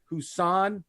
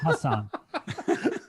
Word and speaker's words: Hassan: will say something ready husaan whiteside oh my god but it's hassan that's not whiteside he's